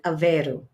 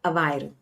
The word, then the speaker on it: Aveiro: Up there, they say Aveiro. Aveiro. But Lisboans pronounce it Aveiro. And if you saw it, you'd say Aveiro or Aveiro.